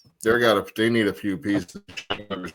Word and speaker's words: Schottenheimer: the whole hiring process and just promoted Brian Schottenheimer. Am I saying his name wrong?